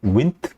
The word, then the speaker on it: Wnt: 윈트라고 읽는다. 왜 운트나 원트나 완트가 아니고 왜 윈트냐? 원래 윈트가 초파리에서의 윙리스 그리고 마우스에서의 인트라는 두 유전자의 이름이 합쳐져서 생긴 거예요. 그래서 윈트라고 쓰면 너무 기니까 되게 유전자 이름을 3글자로 하는 게 뭔가 멋있어 보이죠. 그래서 I를 빼고 WNT라고 쓰고 윈트라고 읽는다.